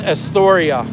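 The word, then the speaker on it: Esturya: I always say the same restaurant all the time, my favorite restaurant to go to, and that's Astoria in Dumaguete. It's spelled E-S-T-U-R-Y-A, Astoria.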